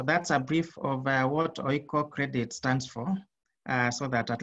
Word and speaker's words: Oikocredit: So Oikocredit is pronounced as one word. We don't pronounce that as Oiko. It's Oikocredit that means we believe